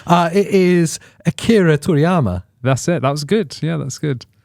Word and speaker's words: Akira Toriyama: It is Akira Toriyama.